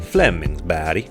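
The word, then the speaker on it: Flemingsberg: the Stockholm area called Flemingsburg or as the sweds pronounce it Flemings BD and that would be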